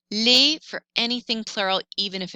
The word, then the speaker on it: les: word starts with a vowel or vowel sound lay for anything plural even if it starts with